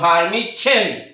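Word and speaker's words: vermicelli: ভার্মিচেলি আমরা বাংলা উচ্চারণ করার সময় বলবো, কিন্তু ইংলিশ প্রনাউন্সিয়েশন করার সময় বলবো ভার্মিচেলি। তুমি নাম্বার 28, এই যে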